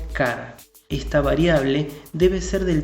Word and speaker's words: char: inglés es decir caracter se escribe char pero se pronuncia car esta variable debe ser